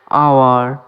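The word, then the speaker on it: hour: আওয়ার, এখানেও H silent, আওয়ার মানে ঘন্টা।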